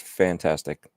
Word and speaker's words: Fntastic: I believe it's pronounced fantastic. Yeah. Fntastic. they just dropped the A and try to be creative, man.